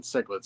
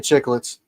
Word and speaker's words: cichlids: feet or longer, I would definitely do African cichlids in that one. Peacocks, for sure. African chicklets. Yep. That's how my dad pronounces it.